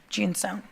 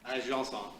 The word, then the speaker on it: Janson: Okay, Ginson. Am I pronouncing that right? Is it Ginsoni? Janson. Oh, way off. Janson.